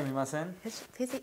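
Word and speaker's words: すみません: Sumimasen. Sumimasen. Good. That was really How's good. that? Sumimasen.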